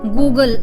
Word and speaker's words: Google: अब इसकी स्पेलिंग देखिए GOOGLE, गूगल। अब जो डबल ओ है हमारा हमेशा ऊ की प्रोनाउंसिएशन देता है, इसीलिए इसको हम गूगल बोलते हैं, और जो सिंगल ओ होता है वो हमारा ओ की प्रोनाउंसिएशन देता है।